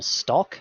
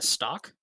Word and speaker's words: stalk: uh an algae whole stalk i don't know why i pronounced the l in stock or 30. so meat shell one piece of shell and and then a stock uh you're purchasing these